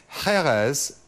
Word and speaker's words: Jerez: Which drink is Jerez, or Jerez as some people pronounce it, in Spain famous for?